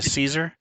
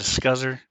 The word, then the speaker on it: Caesar: Taking a quick pause for a second to say hi to Caesar, uh, also known as Scuzzer, if you'd like to mispronounce his name.